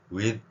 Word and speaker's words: with: 소리를 한국인들은 내고 있죠 정확한 th 소리는 관련되는 내용을 제가 자주 말씀드리는데 어 우리말 디귿 아니고 시옷 아닌 어 혀를 물고 그러니까 혀 무는 거는 제가 맨날 강의에